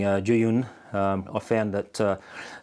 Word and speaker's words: Zhiyun: to be said but the closest i could find was uh you pronounce it somewhat like ju you and westerners kind of